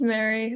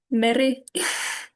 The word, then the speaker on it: Meri: It can be pronounced Meri, that's fine. Or if you want to be extra correct, Meri.